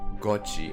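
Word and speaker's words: Cauchy: Gochi. Oh, okay. Gochi sequences.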